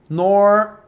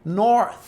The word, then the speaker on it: north: som do TH, o som do S com a língua presa. North, sem língua presa, com língua presa. Então, north.